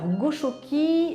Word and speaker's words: Goxoki: Alors Goshoki, alors qui s'écrit G-O-X-O-K-I, ça signifie, en fait c'est un terme basque qui signifie être bien, être chez soi, être au chaud, être dans un nid douillet.